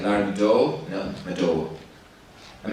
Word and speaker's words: Madowo: colleagues, if you say, they say, Larry Madowo, actually it's Madowo. They're like, Larry Madowo? No, Madowo.